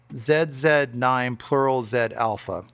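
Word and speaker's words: ZZ9 Plural Z Alpha: And you have to say it's all although we see ZZ9, we have to say it like it's the British do. So it's Zed9 plural Z alpha, right?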